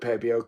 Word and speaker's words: Pebeo: I call it Pebeo because I asked them once how to pronounce the name, and that's how they told me to pronounce it.